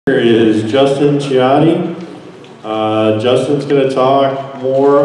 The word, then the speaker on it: Chiotti: So as Tom mentioned, my name is Justin Chiotti, or at least that's how we pronounce it in Michigan. Those of you who work for the D.C., Chiotti.